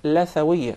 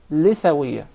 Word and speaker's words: lithawiyya: It is commonly mispronounced. Some people will call it lathawiyya. Rather, in Arabic it is called lithawiyya because we call the gum litha. Yes. So that's why it is proper to say lithawiyya.